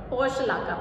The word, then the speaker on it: Portulaca: It is pronounced as Portulaca plant.